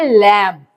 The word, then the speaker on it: lamb: LAMB spelling है इसके, लेकिन हम इसको प्रोनाउंस क्या करते हैं? लैम्प.